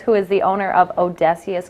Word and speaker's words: O'Desious: is the owner of Odysseus Custom Designs I said did I say it right yep I said it right okay I just got